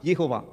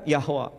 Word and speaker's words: Yehovah: Sementara bahasa Ibrani, pronunciation-nya Yod, He, Vav, He, Yehovah. Yehovah, kadang Yahweh.